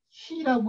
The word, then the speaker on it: 旣: 여기 이미 기자인데 이것이 녹봉을 얘기를 할 때는 시라고 읽어요. 시. 쌀이나 녹봉을 얘기할 때는 이 이미 기자를 시라고 읽는다.